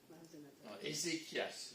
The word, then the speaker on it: Ezéchias: est-ce qui va démarrer Ezéchias on peut dire c'est normalement vous l'écrivez avec un ch peut-être mais c'est pour nous dire que le CH se prononceéchias comme comme archéologue ah oui architch AR